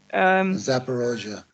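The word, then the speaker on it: Zaporizhzhia: Can we just touch on what's happening at the Zaporizhia? Have I pronounced it correctly? Zaporozhye.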